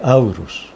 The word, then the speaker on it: Horus: Se escribe Horus y se lee Aurus, que es el Cristo entre los antiguos egipcios, el dios Aurus.